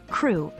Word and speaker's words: Krewe: Carnival crew a crew pronounced like crew is an organization or